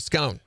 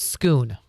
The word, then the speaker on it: Scone: Look up stone of scone.